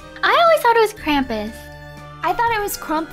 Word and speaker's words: Krampus: we have to watch uh crompus is it crompus or Krampus if it's Krampus then I've been saying it wrong all this time oh what is this it's okay I took care of it okay with my Godly powers it's cramp it's Krampus it's Krampus is it actually crampus